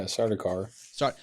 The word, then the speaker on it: Sardaukar: Their eyebrow piercing, glinting like a miniature Sardaukar blade. Did I pronounce that right? Yeah, Sardaukar.